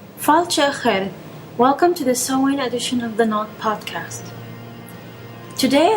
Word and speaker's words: Samhain: The book says, Samhain, pronounced Samhain, means summer's end.